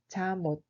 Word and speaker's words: 잠옷: Il se prononce comme 잠옷.